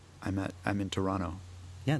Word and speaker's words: Toronto: I tell people I'm at I'm in Toronto. Yeah, that's not bad. You don't say that last T.